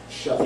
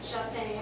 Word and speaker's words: Shaphan: And it came to pass in the 18th year of King Josiah that the king sent Shaphan. Right, Shaphan.